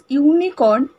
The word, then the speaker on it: unicorn: না এ করব because ইউনিকর্ন ইউ আছে কিন্তু ইউ করা আছে কিন্তু উচ্চারণটা কিসের মতো হয় না ওয়াই এর মতো যে ইউনিকর্ন ওকে এটা ওয়াই এর